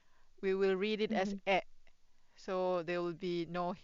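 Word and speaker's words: へ: If it's used as a particle, then you should pronounce it as e.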